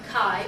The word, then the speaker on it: chi: or chiasmus depending on how you want to pronounce it and then that's the greek letter chi or ki and uh if you look at it you